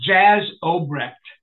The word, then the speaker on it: Obrecht: Jay Obrecht, is that the pronunciation? I think it's Jazz Obrecht.